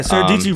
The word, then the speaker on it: Sara Dietschy: You know, I don't know why, but I really connect with Sarah Dietschy. Yeah, Sarah Dietschy rhymes with Peachy.